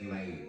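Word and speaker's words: 李: The surname Li is actually pronounced Lei in Cantonese. So Lei Junfan, and the word,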